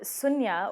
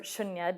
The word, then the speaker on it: Shunya: So Sunya, or Shunya, depending on how people would pronounce it, it's a fusion performance.